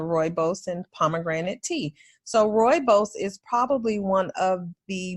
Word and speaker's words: rooibos: you can have and it's Roo ibos and it's pronounced like rooibos and i drink a